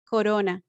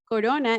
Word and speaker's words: corona: if you notice that soft r is in the middle of the words they are not at the beginning and they are not at the end and the pronunciation is corona corona in english is crown